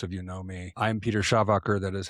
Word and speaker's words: Schawacker: I'm Peter Schawacker. That is how you pronounce it.